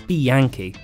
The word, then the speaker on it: Bianchi: villier here's another beautiful bike is it a bianchi or a bianchi for the record it's bianchi who probably said with a better italian accent